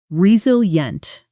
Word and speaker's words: resilient: The pronunciation resilient. The stress is clearly on the second syllable.